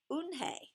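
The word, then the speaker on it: Unhei: It's spelled U-N-H-E-I. It's pronounced Eunhae.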